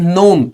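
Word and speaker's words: gnome: This is नोम। इसमें जी silent है। इसको नोम पढ़ते हैं।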